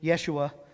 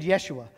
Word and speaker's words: Yeshua: Israel would have been Yeshua um or we call it Joshua but they didn't have a j sound in Hebrew so they said Yeshua that would have been